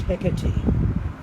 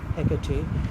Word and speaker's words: Hecate: Now, today, of course, Hecate generally is pronounced Hecate, Hecate, but in Shakespeare's time it was a disyllabic word, and that should be kept in mind when Shakespeare is acted and when the word is spoken on the stage.